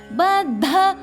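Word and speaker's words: बद्ध: சங்கருக்கு வர ஷ காமேஷ பத்த பாக்கு மேல மூணு இருக்குனா பா உச்சரிக்கணும் பாலுக்கு வர பிஏ பத்த இத்துக்கு மேல மூணு த பத்த தாக்கு மேல நாலு த பத்த மாங்கல்ய காக்கு மேல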